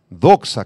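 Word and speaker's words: δόξα: la palabra Gloria proviene del griego doxa doxa con acento en la o y significa eh valorar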